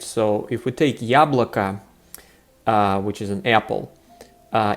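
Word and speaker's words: яблоко: the end of yablake is unstressed so it totally sounds like an ah so here it's very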